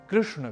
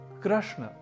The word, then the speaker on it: कृष्ण: का अनुकरण करते हुए योग को योगा की तरह कृष्ण को कृष्णा यह उच्चारण नहीं करना क्योंकि कृष्ण तो पुल्लिंग शब्द है जबकि कृष्णा स्त्री लिंग अर्थात कृष्ण देवकी नंदन